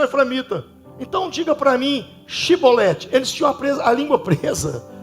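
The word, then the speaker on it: שיבולת: Então diga para mim Shibolete. Eles tinham a língua presa. Diga para mim Shibolete. Eles não conseguiam falar Shibolete, eles falavam Sibolete.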